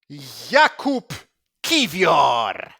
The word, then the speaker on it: Jakub Kiwior: Go on, you say his name the proper way. I want to hear the proper Polish way. Jakub Kiwior.